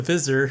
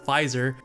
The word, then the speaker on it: Pfizer: i called it the visser last week so that was just dumb with me i didn't know how to pronounce it so it's actually called pfizer the p is silent i think like fu